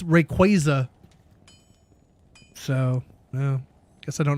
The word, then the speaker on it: Rayquaza: Apparently I've always said Rayquaza wrong. It's Rayquaza.